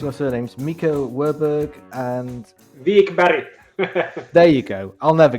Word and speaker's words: Wikberg: I'll have a go at pronouncing your surnames. Miika Wikberg and... Wikberg.